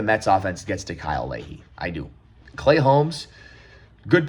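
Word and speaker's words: Leahy: Is it Is it Chris Ley? Because I know Christine Lehey is a like a a sports reporter. What's this guy's name? I don't want to get the name wrong. It's Kyle Lehey.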